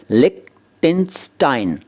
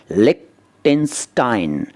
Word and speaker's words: Liechtenstein: इसका उच्चारण भी अजीब सा है। इसका उच्चारण है लिक्टेनस्टाइन। देखिए लिखा कुछ और है लेकिन यह है लिक्टेनस्टाइन, और ये एक देश है, जी हाँ।